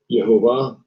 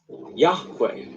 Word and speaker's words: Yahweh: Now, obviously, mispronunciation, but we're going to show you later on. Strong's H 3068. Yehovah. Yehovah. Yeah, but we're going to